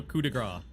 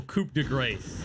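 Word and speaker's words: coup de grâce: Like, you know, coup de grace, right? Yeah, yeah. Or coupe de grace, if you don't know how to say it.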